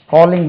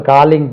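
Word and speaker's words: calling: இல்லை இது காலிங் bell காலிங் பெல்னு word இங்கிலீஷ்ல கிடையாது டோ பெல் தான் இருக்கு பட் மக்கள் காலிங் பெல் சொல்றீங்களே அப்படி காலிங் கிடையாது கோலிங் சார் அது கூல் அது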